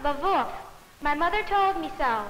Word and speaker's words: Lwów: It's pronounced Lwów.